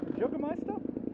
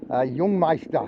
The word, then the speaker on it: Jungmeister: Juggermeister? Jungmeister. Jungmeister, I pronounced it right.